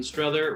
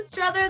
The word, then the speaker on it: Strother: we have strada did i say your last name right strother rhymes with brother okay there you go that's strother that rhymes with brother